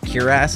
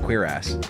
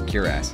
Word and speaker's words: cuirass: Finding out that that's actually pronounced cuirass is really interesting. I thought it was pronounced cuirass, but it's cuirass.